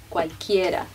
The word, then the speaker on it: cualquiera: De cualquiera, maybe you can try to pronounce it less like English, especially the vowels, more like cualquiera.